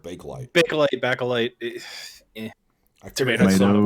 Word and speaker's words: Bakelite: backlight or bakelite. I've always heard bakelite.